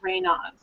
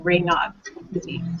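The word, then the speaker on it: Raynaud: funny anymore um and I also have rainov which I just learned how to pronounce that recently so um it's French and I didn't know I used to say Ray which is incorrect you didn't know that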